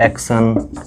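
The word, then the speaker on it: action: तो मैं आप लोगों को बताऊं कि TION का उच्चारण जो सन होता है, ठीक है, शन। लेकिन मैं लिख रहा हूँ वर्ड्स, देखिए, जैसे मैं बोलूँ एक्शन, ठीक, एक्शन, ठीक, TION सन, ठीक।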